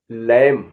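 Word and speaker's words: lamb: कोम कोम माने कंघा एल ए एम बी लम लम माने मेमना टी एच यू एम बी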